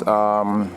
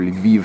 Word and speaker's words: Lviv: But Kiev and, well, there's Kiev and there's Lvov or Lviv, depending on whether you want the Ukrainian or Russian pronunciation.